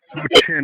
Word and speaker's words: Loqin: Lo Chin is spelled Loqin.